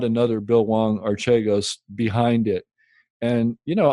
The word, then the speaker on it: Archegos: or bill wong h-w-a-n-g archegos just like it sound it's spelled just like it sounds a-r-c-h-e-g-o-s and there's a